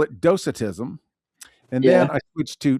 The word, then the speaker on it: Docetism: And so I went to multiple sources and they all said the same thing. Doitism.